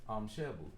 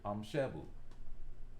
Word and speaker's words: Shebu: But these two consonants next to each other, these two root letters that are next to each other, there's a slight pause in the way you pronounce it.